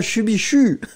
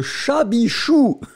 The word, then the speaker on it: chabichou: Non, Ice Cube, c'est pas chubichou. C'est le chabichou. Ah, il faut pas dire ça quand vous allez là-bas. Hein. Si vous allez dans le Poitou, ils vont pas vous aimer.